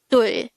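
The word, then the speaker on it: 둘: Dul. Dul. This is just composed of one syllable, which is dul.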